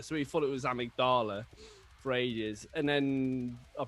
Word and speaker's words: amygdala: was he he said you sure that's the way you pronounce it it's like and then and i think we were just like yeah yeah i think believe so sure it's not a mig dilla you're like um i